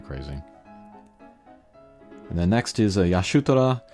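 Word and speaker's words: Y'shtola: And then next is Yashutara. I know people will grate against my pronunciation there, but that's the Japanese pronunciation.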